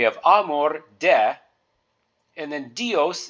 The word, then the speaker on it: Dios: Amore de and then dios is actually two syllables combined together D E and O so you've got the letter D so you would pronounce that d e and then o as in host or most so we'd say dios and we'd put that